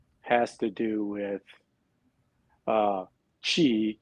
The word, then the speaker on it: qi: to do with uh qi q i pronounced like c-h-i so so q i is is g right so spelt the same way as c-h-i and the interesting part